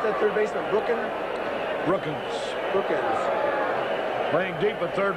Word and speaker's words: Brookens: Summers, how do you pronounce that? Third base, Brooklyn. Brookens Brookens playing deep at third base.